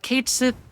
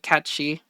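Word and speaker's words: Cait Sith: Uh, Kate Sith, which I guess technically it's not how it's actually pronounced. It's like Katchchi or something like that.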